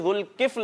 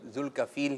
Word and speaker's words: ذوالکفل: ان کے نام کا تلفظ جو ہے وہ آتا نہیں ہے لوگوں کو صحیح نا، تو کل ذوالکفیل کہہ رہے ہوتے ہیں.